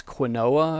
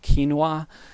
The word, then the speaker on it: quinoa: some beans experimenting with different kinds of grains quinoa or quinoa is one of the ones i think it's spelled q-u-i-n-o-a that i've been enjoying and also